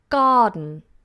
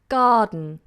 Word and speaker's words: garden: just so you know the letters that are highlighted in red or they might look orange to you they are silent okay so here's the first example garden garden now you try next